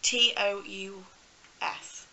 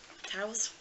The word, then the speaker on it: Tous: And then these are from Tous, I believe that's how you pronounce it, T-O-U-S, Tous, Tows.